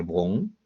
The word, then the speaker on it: von: enfermedad del fondo recklinghausen un font se pronuncia pues con v veo n von recklinghausen que es un apellido